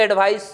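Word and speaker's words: advice: This is called एडवाइज, this is called एडवाइस।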